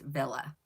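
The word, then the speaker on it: Wille: Uh this is Ellen Villa. It's spelled W I L L E but it's pronounced Villa.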